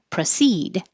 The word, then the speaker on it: proceed: I knew that um the verb has stress on the second syllable for proceed and the pro is not stressed so you can pronounce